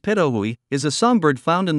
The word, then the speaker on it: pitohui: can be poisonous the hooded patohui pronounced perahui is a sunbird found